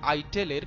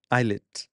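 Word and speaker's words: islet: তিনি তার বেশিরভাগ অগ্নাশয়ের আইটেলের কার্যক্ষমতা হারিয়ে ফেলেছিলেন। আইটেল নয় শব্দটা আসলে আইলেট। আইলে বানানটা হচ্ছে আইএস এলইটি।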